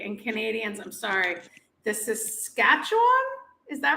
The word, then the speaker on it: Saskatchewan: I did do, and I'm not going to pronounce it correctly, and Canadians, I'm sorry, the Saskatchewan, is that right? That's right, Saskatchewan.